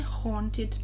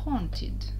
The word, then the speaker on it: haunted: Explore a haunted mansion – исследовать замок с привидениями. Слово haunted – A и U – вот оно, это сочетание букв, читается звуком O.